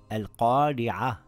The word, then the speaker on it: الْقَارِعَةُ: It reads as al-qari'ah, with a smile on the Ra.